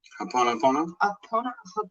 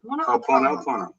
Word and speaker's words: Ho'oponopono: Ho'oponopono. Ho'oponopono.